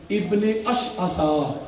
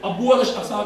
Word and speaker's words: ابن اشعث: Level کا بندہ تھا, ابن اشعثا. بعض لوگ اس کو ابو اشعثا کہتے ہیں, لیکن جو بہتر تلفظ ہے وہ یہی ہے.